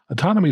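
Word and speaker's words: Autonomi: they cleverly call autonomy which is spelled like the word autonomy but with an eye instead of a y at the end autonomy takes into consideration a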